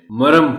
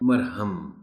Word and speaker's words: مرہم: کا نام ہے۔ مرہم، یہ لفظ بھی ہم غلط بولتے ہیں، مرم پڑھ جاتے ہیں، مرہم۔ معلم ہے، اس کو